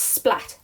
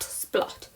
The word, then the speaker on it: Splatt: It's Splatt, not Splot.